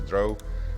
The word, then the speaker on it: drow: it even started because I pronounced drow as dro. Fatal mistake.